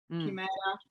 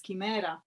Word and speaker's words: chimera: of pronouncing it and in Italian it's Kimera and in Italian schemera